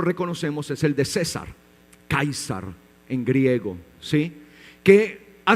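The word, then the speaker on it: Καῖσαρ: dice en griego a ver si lo recuerdan kaisar muy bien en griego kaisar en griego César kaisar sí Y también otro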